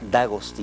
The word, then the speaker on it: D'Agostino: Ahora, yo desafortunadamente la señora Carla Álvarez, señor Antonio D'Agostino, usted lo pronuncia bien, ¿verdad? D'Agostino.